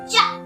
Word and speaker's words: chive: Chive. ई को हम pronounce नहीं करेंगे।